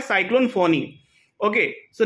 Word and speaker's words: Fani: For example cyclone फोनी, it's called फोनी. Name is given by Bangladesh cyclone, लेकिन नाम देखो FANI. उसको बहुत कोई फानी बोलता था, लेकिन उसका मेन क्या है, साइक्लोन फोनी.